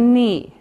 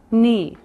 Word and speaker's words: knee: this is the thigh then we have the knee knee now remember for pronunciation we don't say the C we just